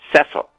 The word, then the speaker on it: Cecil: yeah as you know i i pronounce it the british way cecil and cecil cecil has never complained